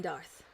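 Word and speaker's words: D'aerthe: It is Bregan, and Darth is D''AERTHE.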